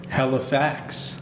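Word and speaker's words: Halifacts: Facebook group called Halifax Halifax so it's like it's spelled h a l i f a c t s like hi yeah and then fact like matter of fact okay a oh okay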